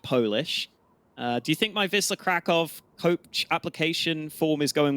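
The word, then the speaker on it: Wisła Kraków: lives in Poland, and he told me it's pronounced, I think he said it's pronounced Wisla Krakow, is what he said. But I'm not good enough to pronounce that properly, so I might just stick with Wisla.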